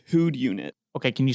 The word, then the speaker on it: Whodunit: The title on the box just says Who'd Unit. Okay, can you spell that?